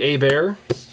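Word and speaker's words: Hebert: first off um former uh Saints quarterback Bobby a bear no R which I find fascinating you know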